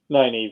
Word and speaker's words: Nynaeve: And so then Lana Moraine escape on horseback, and then we get Nynaeve. Am I saying it right? Nynaeve, yeah.